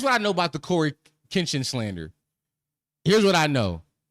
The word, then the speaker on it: CoryxKenshin: Listen, Cory talking about the X is silent. Why is the X there? Why is there X there? The X silent. Listen, here's what I know about the Cory Kinchin slander.